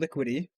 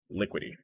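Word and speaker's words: Liquity: so one is called liquidy and how do you spell that one l i q u i t y so like liquid did it like like liquidity but without the d okay part so lu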